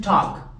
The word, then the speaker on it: talk: hablar el verbo To talk que lo vimos la l no se pronuncia recuerden To talk hablar